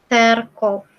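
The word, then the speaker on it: церковь: Dan ini Serkov, bacanya Serkov.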